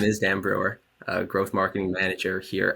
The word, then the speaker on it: Bruwer: Uh and I'm joined by the lovely Dan Brewer.